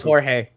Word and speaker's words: Jorge: all cat had uh george sedano on the full court press down tonight jorge it's jorge he calls himself george on espn to help people like you exactly who can't pronounce it otherwise so adam coming to